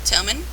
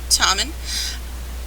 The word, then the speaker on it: Tommen: throne room with tommen tommen not tomman tommen that's what they call them on the show I'm going to say that's the way you pronounce the name thank you anyway um